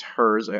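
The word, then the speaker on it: Herz: the first one is cyber dragon hearse not hurts just hers although I suppose you could pronounce it yeah hurts em anyway so level 1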